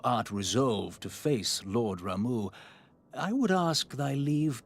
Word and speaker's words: Rau: Yep, it is officially pronounced Rau matching its Japanese katakana. Note, English localizations and player communities frequently use Rama or Rama, influenced by the Hindu deity Rama.